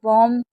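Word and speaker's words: bomb: तो हमेशा बी एम और बी होगा तो भी साइलेंट होगा। और बी और टी होगा तो भी बी हमारा साइलेंट ही माना जाएगा।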